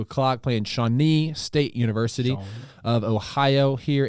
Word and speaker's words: Shawnee: and then we play shawnee state university of ohio i'm probably saying that name wrong no that's right shawnee sean sean okay